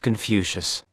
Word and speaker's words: Keungfautse: MacLeod pronounced MacLeod, and an elderly Pekingese called Keungfautse, pronounced Confucius.